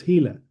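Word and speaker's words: HeLa: se llaman las células Gila. Las Gila que se escribe en inglés H e L a Gela.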